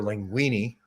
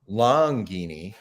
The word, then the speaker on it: Longini: guy his name's Ira linguini I think I got his name wrong in the video I didn't say either linguine I think I said Ira it's IRA longini beanie is this your